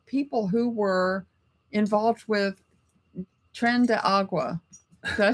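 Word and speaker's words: Tren de Aragua: and they were people who were involved with Tren de Agua.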